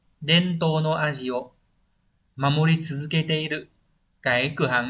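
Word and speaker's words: 伝統: số 3 Đây là truyền và thống rồi đọc là Dento vậy đáp án đúng là 3 và và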